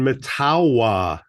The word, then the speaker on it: Mettawa: Beth yeah and then any breaking news on matawa see that's how you say it yes Cube